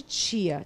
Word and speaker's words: chia: é um pudim de tia tia tia que que é tia Cia não é tia de tiazinha Não não é titia não é c e a Só que os em espanhol se pronuncia Tia vem muito dos